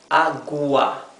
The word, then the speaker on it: agua: And agua for water, agua. Here, the U is not mute, right? We do pronounce the U, agua.